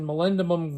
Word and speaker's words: molybdenum: and I'm just using molybdenum grease. I think that's how you pronounce it. My buddy Arnie, who's a trained machinist, says that's the correct pronunciation.